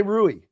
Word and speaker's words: Rui: How do you say Rui? Rui Hachimura.